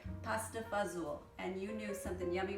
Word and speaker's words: pasta fazool: i have this delicious we call it pasta fazel now that's how we say it our every family might pronounce a little differently but that's the narciso philippine family would say pasta fazool and you knew something